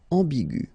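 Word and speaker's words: ambiguë: Another example is ambigu, and it will become ambigu. Okay, so you don't modify the way to pronounce them.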